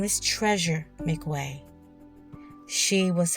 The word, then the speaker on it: McWeay: I believe they are pronouncing his last name McWeay.